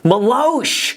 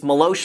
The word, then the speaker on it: Meloche: Okay guys, so it's Monday. It's Meloche Monday. Meloche! That's what it is. Okay, so now we know it's Meloche Monday. Meloche. That's how you pronounce her last name.